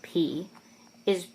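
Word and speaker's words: Π: Now, in the Greek alphabet, the letter P is pronounced pi.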